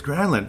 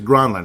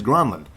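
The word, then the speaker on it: Granlund: like mle grin and everybody's like it's granin and he said no it is grunland I asked him specifically and he told me it is grenland so it is the correct pronunciation and how how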